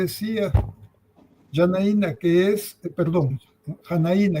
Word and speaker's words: Janaína: Yanaína, que es, perdón, Janaína, yo le pongo el Yanaína por por Brasil, no es que así es porque es brasileño, así que es Yanaína.